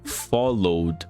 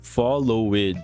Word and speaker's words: followed: O ed aqui no final tem apenas um som de e não de e. É muito comum nós brasileiros pronunciarmos followed. Por mais que tenha um e aqui, nós não pronunciamos esse e, apenas o d no final.